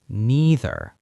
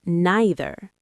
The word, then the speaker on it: neither: Just like either, you can pronounce neither in two ways. Some people say neither and some people say neither.